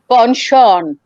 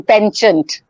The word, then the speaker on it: penchant: And you can almost say that his penchant, or the American pronunciation, penchant for traveling, that just kept him on.